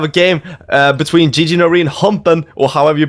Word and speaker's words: Humpen: His name is, listen closely, Humpen. Humpen. Because I was talking to Alex, aka Zvake, previously, and he was not able to pronounce that name because it's German and he's from Sweden.